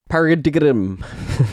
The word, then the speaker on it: paradigm: about these new Bontrager Paradigm Pro 30 gravel wheels. Paradigm. How do you what's the word? It's pronounced paradigm, but you pronounce it phonetically.